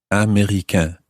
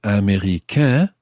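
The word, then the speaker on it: américain: of that is a m e acute r-i-c-a-i-n america that means american of course so following the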